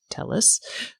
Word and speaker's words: Thales: It is pronounced Telus.